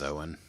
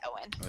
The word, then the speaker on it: Eoin: It is Owen. It's Yeah, Irish, and I can never do. it's spelled like E-O-N, but Mm-hmm. I think it's Owen. It's EOIN, E-O-I-N. but Okay. it's still Owen.